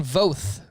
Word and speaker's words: Voth: Austin Voth versus the Phillies. Likely with no JT Realmuto. I like in the notes here, you put like both with a V for Voth's pronunciation.